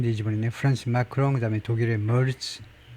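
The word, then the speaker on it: Merz: 프렌시 마크롱 그다음에 독일의 머츠에 독일 발음은 이제 뭐 mer츠 뭐 이런 정도인데 영어식으로는 그냥 머즈 머즈 정도인데요.에 이테리의 여성 총리가 여성 총리가요.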